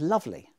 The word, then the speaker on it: lovely: And the first syllable of lovely is so strongly stressed that the E is left out as well.